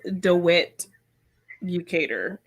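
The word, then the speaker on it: DeWitt Bukater: It's Rose DeWitt-Bucator. So it's not one whole word.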